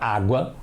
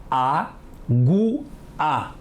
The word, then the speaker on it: água: sílabas diferentes e a aguá pua são pronunciadas juntas certo a Agu a o a São pronunciadas separadas errado e a Agu a é muito feio não é Alpha é até difícil falar não é assim que falamos todo mundo fala água vamos ver a outra